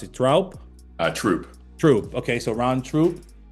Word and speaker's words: Troupe: How do you pronounce it? Troup? Troop.